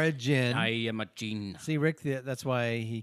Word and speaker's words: D'jin: only it's just pronounced gene gene oh i'm sorry i thought it was i could use a gene no the d is not it you don't pronounce it all the way it's sort of this